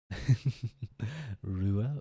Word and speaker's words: Ruadh: someday o name pronunciation Ru Ru so essentially it's sort of like the D is silent in Ru and then U is